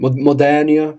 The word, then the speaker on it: Modernia: I know Modernia's, if it's Modernia, is that how you pronounce it? Modernia, yeah.